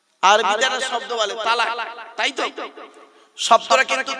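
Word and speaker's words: طلاق: বলে কি বলুন তো আরবিতে একটা শব্দ বলে তালাক তাইতো শব্দটা কিন্তু তালাক নয় শব্দটা তালাক নয় আমরা 95% মানুষ আমরা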